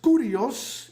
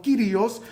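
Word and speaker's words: κύριος: La palabra es curios en la pronunciación antigua o kirios en la pronunciación eh eh más nueva del griego, pero curios título de de esto.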